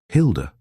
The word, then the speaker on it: Hilda: Hilda? I rather like the name. It rhymes with Gilda.